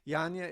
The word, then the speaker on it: Janja: hear from you uh we have dr uh janja daniellalich is also speaking uh which is pronounced her name it's okay she deals with it all the time people mispronounce my name all the time too yanya is a retired uh a professor of sociologist